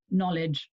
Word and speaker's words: knowledge: It does not sound anything like it's written with a K-N-O-W. You might think N-O-L-E-D-G-E. Maybe you think, well, if you're writing phonetically, maybe it would be more like N-U-L-E-D-G-E.